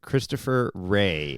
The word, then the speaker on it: Christopher: With Christopher Ray, and his last name Rea.